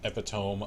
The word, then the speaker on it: epitome: Brian Regan albums is epitome of hyperbole I thought for the longest time that it rhymes with metronome and it does not Marcus says I was